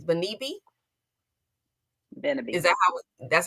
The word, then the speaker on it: Beneby: and make sure I'm pronouncing this right, Beneby? Is that that's how I pronounce it? Beneby.